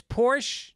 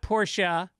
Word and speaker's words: Porsche: Yeah, it's Porsche, not Porsche.